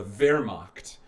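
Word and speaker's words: Wehrmacht: the German military which is known as the ver macht which is spelled weh R ma CH T they're mocked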